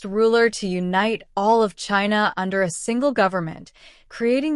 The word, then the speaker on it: Qin: He was the first ruler to unite all of China under a single government, creating the imperial system that would persist in various forms until 1912C. The name China itself derives fromQin, pronounced Chin.